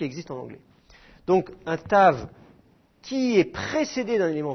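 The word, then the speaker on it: תו: Tav, la dernière, celle qui est ici. La lettre Tav est concernée par ce phénomène. Avec un point dedans, il faut la prononcer occlusive. C'est la prononciation normale, T.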